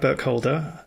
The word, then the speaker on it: Burkholder: We're speaking to author Brad here, Brad Burke Holder. Have I pronounced that correctly?